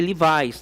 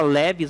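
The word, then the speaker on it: Levi's: Se lê livais, tá? A gente fala leves, mas é livais a pronúncia pertence ao Levi, ou seja, a origem ao dono é o Levi.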